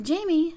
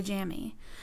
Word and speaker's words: Jaime: I'm a Jamie, not a Jammy.